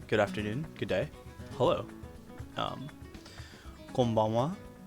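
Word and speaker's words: こんばんは: Konbanwa. So this is hiragana ha, but it's also used as wa, pronounced as wa in some situations, such as particles, and I guess in words like konnichiwa, konbanwa.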